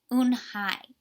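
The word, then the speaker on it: Unhei: Kim and turn to Joey she nodded slowly yes it's pronounced une hi and it means grace mr.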